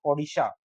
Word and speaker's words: ओडिशा: और उड़ीसा से ओडिशा, मतलब स्थानीय उच्चारण के कारण, क्यों? क्योंकि उड़ीसा के लोग उड़ीसा नहीं बोल पाते थे, जबकि क्या बोल पाते थे? वो ओडिशा।